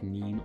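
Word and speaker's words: 人: for person and I'll immediately think nin or hito, which are both pronunciations depending on, this is being weird, depending on the like what word it's being used in.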